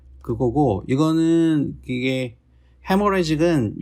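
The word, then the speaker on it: hemorrhagic: 그거고 이거는 이게 헤모레직은 요 H는 사실 묵음인데 이게 출혈.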